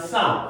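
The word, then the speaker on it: psalm: 이러한 쌈, P가 묵음이에요.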